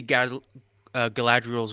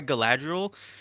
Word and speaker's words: Galadriel: I want to see Galadriel's growth. I want to see why Galadriel can fucking turn kind of evil I'm and sorry, you're like pronouncing it wrong. It's Galadriel.